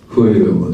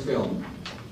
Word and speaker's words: film: And film is fuirumo de shou, fuirumo. Film, one syllable, fuirumo.